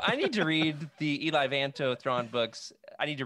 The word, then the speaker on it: Eli Vanto: Eli Vanto. That's the way he's pronounced in the audiobooks.